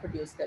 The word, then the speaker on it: coup: Type of injury is called as अ कू injury. इस injury को क्या कहते हैं? कू इंजरी। ये टी जो है इसका साइलेंट है, और अगर ऑपोजिट साइड